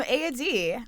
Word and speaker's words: Eadig: She's pronounced a YouTuber. AD, but spelled EADIG. There you go.